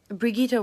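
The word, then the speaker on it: Brigitte: so what I'm hearing it's like you're saying Brigitta like brigh eat ah but if you just if you want to say it like 100% correctly my tip is Brigitta works fine but my tip is that you say big and then it instead of eat and then Ted like in tests but it in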